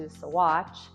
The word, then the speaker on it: Saguache: a very American fashion, they morphed that word, pronunciation of it anyways, into Saguache.